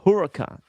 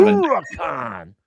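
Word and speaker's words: Huracán: But Huracan Huracan, sorry. It's it's pronounced Huracan. I drive Huracan.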